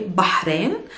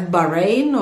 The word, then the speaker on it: Bahrain: have heard it as bahrain or bahrain i don't know if i'm sure you didn't pronounce it as bahrain it's not bad and it's not bad there's a hat sound if you're still struggling